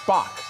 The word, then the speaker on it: SPOC: And then additionally, you've got, I assume that's just Spock, SPOC is how we're going to pronounce that today.